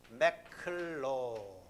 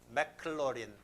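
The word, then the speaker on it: Maclaurin: 매클로린. 맥클로린. 맥도날드하고 비슷하게 발음이 되는데 맥클로린.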